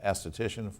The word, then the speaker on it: esthetician: What is an esthetician, and did I pronounce it correctly?